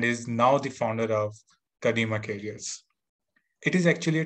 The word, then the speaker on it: Kadima: So I hope I pronounced Kadima. It's like Kadima. Yep. Yep. Kadima is correct pronunciation.